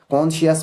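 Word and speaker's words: conscious: कॉन्शियस में I है, I से पहले C है, पहले दूसरा रूल है ये, अगर I से पहले C होगा तो C साइलेंट रहेगा।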